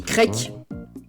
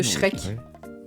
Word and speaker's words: Shrek: Mais en fait, je lui ai dit de prononcer Shrek, genre j'ai écrit C H R E Q U E pour lui dire de prononcer comme ça. Et il dit crack au lieu de Shrek.